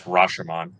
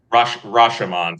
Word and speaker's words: Rashomon: trial and multiple multiple perspectives uh ryan that's rasherman yeah i was trying the pronunciation but yes go for it rashomon final answer crack the three points all right